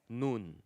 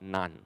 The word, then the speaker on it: Nun: So Yehoshua, son of, okay, it is pronounced as Nun, not Nun.